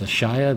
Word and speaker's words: Ashaya: I was trying to remember how they pronounced it at the Comic-Con panel. And it's Ashaya, the Awoken World.